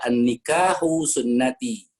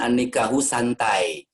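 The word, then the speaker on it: النكاح سنتي: Nah, seorang santri walaupun tidak ada barisnya, ini tidak ada barisnya, tapi dia akan bisa membaca an-nikahu sunnati, bukan an-nikahu santai.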